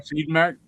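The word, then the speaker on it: Siodmak: How do you pronounce his last name? I'm sorry. Sidmack.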